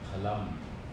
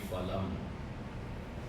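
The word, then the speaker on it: फलम्: Dakshaji, and the pronunciation will be phalam, it will not be phalam. Okay? The pronunciation is labial, pha. So in Sanskrit we do not have fa, like father. We will have phalam.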